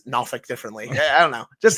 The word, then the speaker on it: Norfolk: And also, I'm going to make fun of you for this because you said Norfolk. That's how it's pronounced.